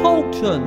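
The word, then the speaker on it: Coulton: l t o n it's not said how it is written so ignore the liy in pen it's pronounced Colton no Colton what like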